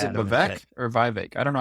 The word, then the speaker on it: Vivek: Yeah, he's very Is it adamant that Vivek or Vivek? I don't know how to pronounce it. he tweeted Vivek as in cake.